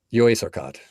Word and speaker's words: Jó éjszakát: Jó éjszakát.